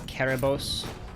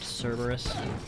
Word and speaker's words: Kerberos: Charon is how like most Americans say it, but I have been told that it is pronounced with a more hard K, the letter C as we translate it from Greek. That's why it is Kerberos, not Cerberus.